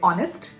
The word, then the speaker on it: honest: for example, in honest, when H is silent, I'm obviously not going to say honest. I'm going to say honest, but I would pronounce a word till the end of it.